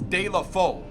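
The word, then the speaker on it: Deulofeu: foo or okay so I apparently been pronouncing Delhi for wrong it's de la valle de la de la fault let's see if we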